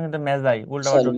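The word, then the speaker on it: Magi: এটা উচ্চারণ কিন্তু মেজাই, উল্টাপাল্টা স্যার উচ্চারণ করে না।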